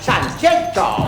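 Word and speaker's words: Sanxenxo: Bienvenidos a Sanjenjo. Ciudad que en gallego se dice Sancheto.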